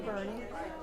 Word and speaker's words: Bernie: I'm Bernie. And spell it, please.